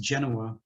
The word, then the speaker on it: Genoa: nautically themed brand so um the genoa it's pronounced genoa is actually the for sale on the sailboat